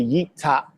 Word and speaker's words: Yeftakh: You can never say Yeftahk.